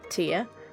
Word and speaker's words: Thea: Wake up, Thea. Tia? In Danish we'd pronounce her name Tia, so...